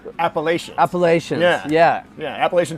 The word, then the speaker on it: Appalachian: near the how do you say it's like appalachians appalachian appalachian yeah yeah yeah appalachian trail not too